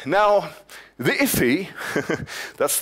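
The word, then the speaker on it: IIFE: now the ify that's the interesting little pronunciation people have come up for this uh uh acronym here I if right uh somebody thought that looks almost like iffy and iy in English means something like a bit weird odd kind of thing so um they they thought that was a funny pronunciation for it uh are the technical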